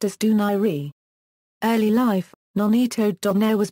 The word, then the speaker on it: Donaire: Bantam weight and featherweight his surname is often mispronounced as dunair but is properly pronounced as duni early life Nonito Don was born in talibon